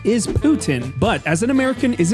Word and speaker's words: poutine: I just found out that's the way you pronounce it, too. Putin. I always said poutine. Now, I understand this is a French dish, and the correct pronunciation is Putin, but as an American, is it really wrong